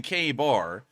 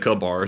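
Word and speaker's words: KA-BAR: really cut anything with a lot of people are saying K Bar um so it is a k-bar the cable I've always said good bar so I've been mispronouncing it the whole time the K bar here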